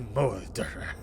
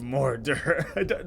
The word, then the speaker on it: mordre: Aye, Cutter, there has been a mordre. What knoweth thou of mordre? Like mordre? You're probably supposed to roll your R a little bit, and I can't roll my R's. Mordre.